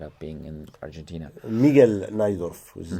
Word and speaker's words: Najdorf: English speakers say Najdorf. Is this the way to pronounce Najdorf in Spanish?